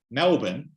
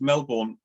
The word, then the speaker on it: Melbourne: how they pronounce it they know that the the second syllable is a little bit weird it's not boring uh but they don't